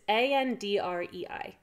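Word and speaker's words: Andrei: It's A-N-D-R-E-I. It's Andre. It's Andre.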